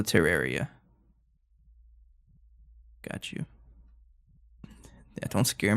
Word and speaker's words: Terraria: The best way to think about pronouncing it is that it sounds like terrarium, but instead of um at the end, it's uh so terraria.